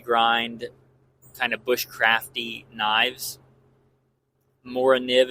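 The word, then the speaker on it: Morakniv: Mora nib, if you're a cool kid and you want to say it the way the Swedes do. I think that's how they say it. I'm not Swedish.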